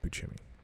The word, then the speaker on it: Buscemi: and Steve Buscemi yeah it's pronounced peachy me and a bunch of